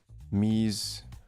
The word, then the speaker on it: mise: Pronounced mise en place. Mise.